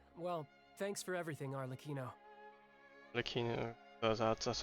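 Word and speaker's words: Arlecchino: Arleccino, that's how you pronounce No it.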